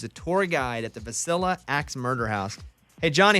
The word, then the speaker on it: Villisca: It's actually pronounced Villisca.